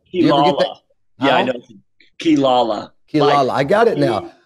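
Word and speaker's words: Quilala: do you say Chris's last name yeah know kilala kilala I got it now but I'm just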